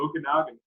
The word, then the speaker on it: Okanagan: the canadian kids did something stupid in the okanagan pronunciation you like that james i practice that for